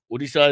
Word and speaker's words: Odisha: Odisha is the closest to the right pronunciation.